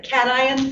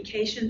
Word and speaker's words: cation: charged that is their cations and that's how that's pronounced cation i know it looks like it should be cajun but it isn't um anion negatively charged